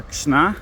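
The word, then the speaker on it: Krzna: This is the river Kishna. That's K R Z N A. Try pronouncing that after a few drinks.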